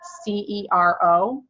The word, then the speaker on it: Sincero: Her name is Jen, Gen, and then her last name is Sincero. It's pronounced Sincero.